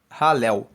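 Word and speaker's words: Hallel: parte do chamado Salmos do alu egípcio alu se escreve h a l l e l halel e alu egípcio significa o conjunto dos Salmos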